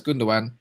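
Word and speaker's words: Gündoğan: city uh fan things under goodness some people pronounce it but i know it's gundogan in sections is always his appreciation spots and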